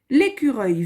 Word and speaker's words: écureuil: L'écureuil. On se rappelle que E-U-I-L, ça nous fait le son œil. L'écureuil. Vif. Sautille sur la branche. Point. L'écureuil vif sautille sur la branche.